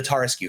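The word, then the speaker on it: Tarrasque: some of his questions, the Tarasque, for instance, or the Tarask, however you want to pronounce it, or the Tarjay, a lot of people have different ways they want to.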